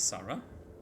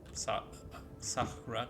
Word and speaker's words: Sahra: My name is Sarah. Sahra, technically speaking.